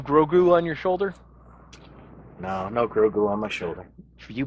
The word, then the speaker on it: Grogu: No Grogu on my shoulder. For you Blam truckers out there who've been watching for a while, notice I pronounced it correctly that time with no double take. Grogu. That's right, folks.